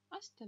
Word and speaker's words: hasta: Так, H не читается вообще. Допустим, у нас были слова hola, привет, или hasta, hasta mañana, hasta luego, hasta la vista. Там было слово hasta, там H не читалось.